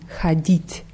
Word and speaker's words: ходить: Ja, die Betonung ist auf i, ходить.